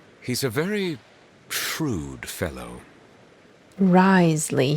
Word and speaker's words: Wriothesley: Risley, he says. I literally watched a YouTube video about how to pronounce his name, and It said Riesli.